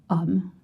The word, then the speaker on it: homme: And I know you see H, but in French the H is silent and mute, so you don't pronounce it.